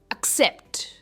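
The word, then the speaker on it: accept: Next क्या कहते हैं, एक्सेप्ट, ये ए नहीं है, इट इज एक्सेप्ट, एक्सेप्ट। और जो लास्ट का सिलेबल है सेप्ट पर इसका स्ट्रेस है, एक्सेप्ट।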